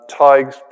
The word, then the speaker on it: Tadhg: is Ty TYB um tig's good oldfashioned Irish name if you're struggling to pronounce it yeah it's pronounced nothing like how it's spelled but think of tiger without the or and you've got TIG so there you go